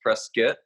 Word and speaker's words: Prescott: here Arizona Prescott Arizona spelled Prescott pronounced press kit where else you get